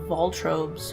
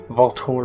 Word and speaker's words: Voltorb: Voltorb. Voltorb. It's not a creative name. I don't know where the R goes. He's an orb, and he's electric, so Volt Orb.